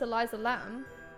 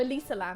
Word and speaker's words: Elisa Lam: is rest in peace eliza lam or elisa lam actually is how you pronounce it uh rest in peace